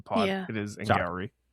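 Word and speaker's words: Angarano: It's Angari, by the way, just so that we don't mispronounce the rest of the pod. Yeah. It is Sorry. Angari.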